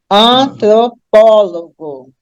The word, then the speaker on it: antropólogo: cinco sílabas aí né antropólogo A última é go a penúltima é ló a antepenúltima é pó e quando eu pronuncio eu tenho an apólogo a anti penúltima é a mais forte portanto a palavra é